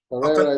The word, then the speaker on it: Perera: We've got Perera, and I pronounced that. Perera is correct.